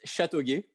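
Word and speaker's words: Châteauguay: it no say it again in french it's chateauguy yeah yeah i'm sorry yeah i know uh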